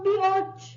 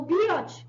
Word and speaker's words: Biot: por último a respiração biot o birote na pronúncia e vai depender de cada um de vocês mas essa respiração ela é